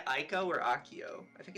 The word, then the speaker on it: Akio: I like to have everybody shout out it's pronounced Akio and uh let's see his document let me